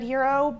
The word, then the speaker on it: gyro: what it is what's heroic about it no g-y-r-o a hero that's the word that everyone thinks is pronounced gyro well the thing that